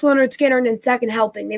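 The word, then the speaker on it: Lynyrd Skynyrd: and second album live completely it was uh pronounced leonard skinner and then second helping they released that i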